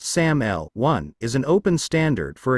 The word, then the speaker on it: SAML: Security Assertion Markup Language SL pronounced SAML1 is an open standard for exchanging authentication and authorization data between parties in particular between an identity provider and a service provider.